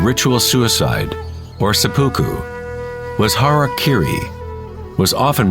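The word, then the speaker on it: 腹切り: one form of ritual suicide or seppuku was harak Kiri was often mispronounced as Harry KY it means to impale one's Hara thereby cutting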